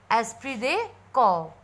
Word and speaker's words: esprit de corps: So our Google pronounce is esprit de corps, that is feeling of oneness.